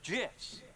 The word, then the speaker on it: GIF: the graphics interchange format Steve Wilhite says it's jiss choosy developers choose gifs I've never been particularly